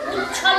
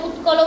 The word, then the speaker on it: উচ্ছল: তারপরে আছে উচ্ছল জলধি তরঙ্গ, ওখানে তোমাদের উচ্চারণে ভুল হয়ে যাচ্ছে, উৎকল বলে ফেলছো।